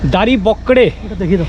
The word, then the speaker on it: Daribokgre: আর সুদীপের অবস্থা তো একচুয়ালি উচ্চারণ হচ্ছে দাড়ি বকরে ডি এ আর আই